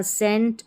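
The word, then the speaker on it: scent: और यह है यहां सेंट।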